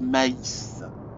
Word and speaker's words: Mais: Hans Herbert Maïs. Oui, parce qu'en allemand, on prononce toutes les lettres.